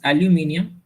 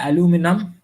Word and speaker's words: aluminium: The metal is aluminium. बहुत लोग बोलते हैं aluminum, बहुत लोग बोलते हैं aluminium. Aluminium is the British pronunciation, aluminum I think it's the American pronunciation. As per Oxford, it's aluminium.